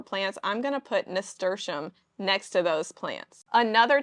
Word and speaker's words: nasturtium: A flower like nasturtium, I used to butcher the pronunciation of that flower and say like nasturtium and just stupid stuff like that. But I've learned it's nasturtium, and nasturtium is a great trap crop for aphids.